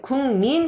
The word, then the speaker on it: 국민: 해야 되는데요 자 잠깐만요 궁민 해야 되는데요 얘가요 비음이 이게 콧 소리란 말이야 그런데 여기 자음은 뭘로 돼 있어요 여린 입장에서 소리가 나야 되거든요 그러니까 국민 하기는 발음하는게 좀 불편해 그래서 기억을 그래 미음이 비음이이 비음의 있는 걸로 바꿔 주자 그래서 발음이 궁민 이렇게 발음이 되는 겁니다 이해 갔습니까 자 대표적인